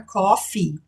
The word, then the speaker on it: coffee: Ah, a gente pronunciou o som do E no final da palavra coffee. Sim, a gente tem dois E's ali. Isso aí não é silencioso, tá? Coffee. Se você deixar de pronunciar o E, nesse caso, você fala cough, que quer dizer tossir. Então, não faça isso. Pronuncie aqui com ênfase mesmo, coffee, porque a gente tem duas letras, duas vogais E, tá bom?